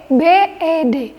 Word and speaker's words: bed: Sedangkan kalau untuk bahasa Inggrisnya tempat tidur, itu biasa saja. Bed.